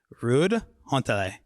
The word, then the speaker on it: Ruud Hontele: And my guest is the founder and CEO of Woby, Ruud Hontele. Yes, you pronounce it well.